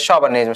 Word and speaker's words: chauvinism: The word is a French word, so it is pronounced as chauvinism.